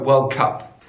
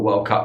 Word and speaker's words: World Cup: I'm talking about the football World Cup here, but it could be any World Cup. But in American English, they put the stress on the first word.